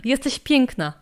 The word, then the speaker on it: jesteś piękna: Iwan said that you should learn jesteś piękna. A nie kurwa. Say that again, how do I pronounce that?